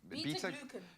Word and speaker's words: beta-glucan: Beta-glucan. Beta-glucan sounds like a song line, but we know how healthy it is.